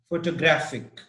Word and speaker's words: photographic: six number six says the stress is on the first syllable in photograph the second in photographer and the third in photographic okay so again the